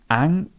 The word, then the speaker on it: anxious: And the adjective changes a little bit. We have this k, sh. Yeah, so it's not the same as the noun. So remember the noun was anxiety. This word is anxious.